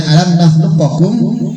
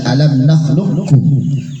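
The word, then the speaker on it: ألم نخلقكم: Tulisannya alam nakhluqakum dibaca alam nakhluqkum. Namanya idgham mutaqaribain. Bertemunya 2 huruf berdekatan makhraj dan sifatnya, tekan bacanya.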